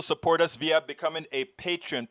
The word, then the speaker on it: Patreon: You can also support us via becoming a patron. Patron is spelled Patreon.